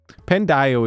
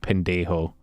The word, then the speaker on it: pendejo: Pendio is the most fucking Anglicanized white boy pronunciation of pendejo.